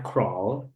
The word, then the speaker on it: crawl: Jadi bacanya crawl enggak pakai W. Jadi kayak ee langsung craw R O gitu kayak bacanya kayak gitu.